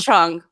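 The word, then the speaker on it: Cheng: Just a chung, Shout out to Sam Peshek for pronouncing chung correctly.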